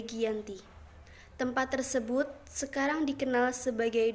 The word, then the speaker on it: Giyanti: tanggal 13 Februari 1755 dalam pelafalan Belanda ia disebut sebagai Yanti dan secara tertulis ia dibaca sebagai Giyanti tempat tersebut sekarang dikenal